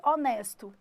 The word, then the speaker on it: honest: E se eu for falar que tem um gerente honesto.